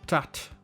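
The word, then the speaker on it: tratra: Exemple, tat, qui veut dire poitrine, s'écrit T-R-A-T-R-A.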